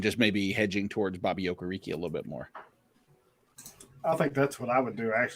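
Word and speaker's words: Okereke: going to go towards okariki yeah that's that's kind of been mine or hey any difference in opinion there it's pronounced okay rickay actually oh listen Mr technical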